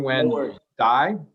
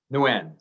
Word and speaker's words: Nguyen: i don't know if i did it jonathan when die is that how you say that that's i don't even pronounce it i don't like that part of